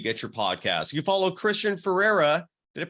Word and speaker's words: Christian Feraria: and wherever you get your podcast you follow Christian Ferreira did it pronounce that right you did Bam at QTC